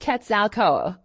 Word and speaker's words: Quetzalcoatl: The Great Pyramid of Cholula is said to have been constructed in honor of one of the Central Aztec gods, Quetzalcoatl, pronounced Quetzalcoatl.